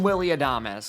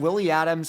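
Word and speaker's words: Adames: And finally, the Giants deliver with an RBI single from Willie Adam. I still remember that I got grilled for calling him Willie Adams in my first ever video.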